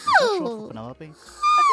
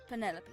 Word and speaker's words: Penelope: Penelope. Officially, yes, but I never can be bothered with all four syllables of it. Penelopey sounds a little ostentatious coming out of the mouth.